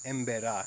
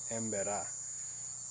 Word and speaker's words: Emberá: with the emba and actually it's emba I've been saying it wrong emba and uh just get